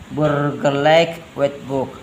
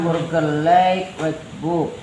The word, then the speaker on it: Burgerlijk Wetboek: saya kasih tanda panah, tanda itu IJ dibaca A ya, jika A ya. Burger like book itu oe atau boy itu dibaca bu ya, itu ejaan bahasa Belanda. Jadi dibaca Burgerlijk Wetboek.